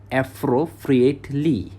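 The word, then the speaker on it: appropriately: উচ্চারণটা হবে অ্যাপ্রোপ্রিয়েটলি, যথাযথভাবে।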